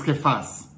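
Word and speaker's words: כיפא: Fíjate, en arameo, Jesús se pronuncia Yeshua bar Yosefet. Pedro es Kefas.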